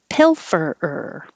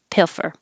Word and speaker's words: pilfer: fur if you don't hold your tongue in the l position the whole time you're ready to make the f um it won't sound like you are making an l piffer it doesn't sound the